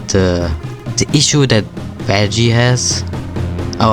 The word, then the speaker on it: Vaggie: the the issue that vaggie has oh I'm sorry vaggy I'm German I always like think of the English pronunciation and vaggy would be a more German way of to pronounce his name so I didn't even